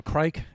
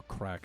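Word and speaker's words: craic: A little crike, as us Irish Americans say, right? Or as the Irish themselves, they pronounce it more crack if you're from the south.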